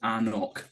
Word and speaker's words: anCnoc: Basically up here we spell it phonetically uh pronounced anoch um because confusingly the capital C uh is the one C that you don't pronounce in the in the name.